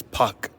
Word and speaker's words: Park: Do you know that Korean names that are that say park, they're actually pronounced as puck or something like that.